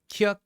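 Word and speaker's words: 키읔: We've got Kyuk, which is a K. Sometimes you can think CK, but K is a lot better.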